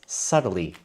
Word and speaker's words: subtly: different or it is subtly different. And we use subtly to say that maybe how it is different is very difficult to see. Maybe two paintings are subtly different. Remember that B is silent.